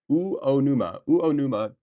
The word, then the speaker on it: Uonuma: Um, do we have any rice farmers from Unuma, Japan, in the Niigata Prefecture? U O O Uonuma, Niigata.